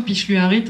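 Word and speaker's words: pilluarit: Picheluarite. Donc ça s'écrit piluarit mais ça se dit le le double l c'est chleu.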